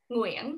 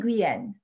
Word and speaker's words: Nguyen: So I honestly fluctuate between Nguyen or Nguyen or Nguyen, which is the Vietnamese version.